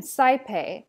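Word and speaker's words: saepe: The first one is I, pronounced like aisle, lie, or dry. We see this in the word puellae and saipe.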